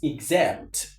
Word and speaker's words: exempt: This X alone is pronounced as giz. Example. For example, not for example. Right. Number two, this word is exempt.